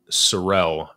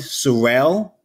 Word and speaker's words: Sorel: my product, my brand, Sorel, S-O-R, one single R-E-L, is called that because I have a speech impediment and I can't pronounce the letter R. So for me, trying to say Sorrel is like trying to say rural or terroir. It's an awful word.